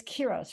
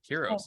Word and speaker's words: Hiiro: It's Kiros, right? Did I say it right? Oh, Hero. But yeah, I like that name though. Heroes. It's very awesome. No, it's Hero. I didn't hear you. Spell it. Hiiro.